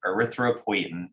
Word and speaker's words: erythropoietin: The full spelled out word, though, is erythropoietin, which I know is a long word, and it's spelled ERYTHROPOIETIN.